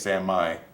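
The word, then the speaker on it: San Mai: Sam Maya so saying shit's not Sammy it's Sam Mai I'm sorry people I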